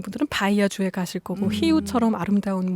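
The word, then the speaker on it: Rio: 아, 근데 지금 말씀하실 때 히우라고 하셨어요. 아, 네네. 히우. 우리가 맞아요. 보통 이제 알고 있는 리우 네.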